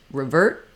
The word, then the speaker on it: revert: also here in revert you might notice that at the end of revert I've written a t there we often use what's called a stopped t or an unreleased T when T ends the word so you might not hear people say revert you might hear revert revert where that ER